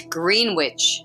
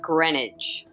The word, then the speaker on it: Greenwich: Episode 2, it's Greenwich, not Greenwich.